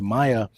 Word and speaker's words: Maia: it it's okay so how do you pronounce your last name Maya Maya Maya Maya he nailed it woo Maya